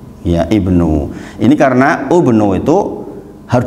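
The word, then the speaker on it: ابن: Tetapi ternyata dalam Al-Quran ubnu itu nggak dibaca ubnu, tapi ibnu, ya ibnu.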